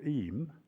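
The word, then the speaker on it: Eyam: Um and there is a village near here called Em is spelled E Y A M.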